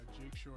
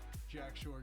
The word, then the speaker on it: Jack Shore: Next fight we had Jake Shore going. Jack. Jack. There you go. Jack Shore going up against Timur Valiev.